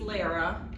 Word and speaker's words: Lara: My name is Lara, rhymes with Sarah, and I realized that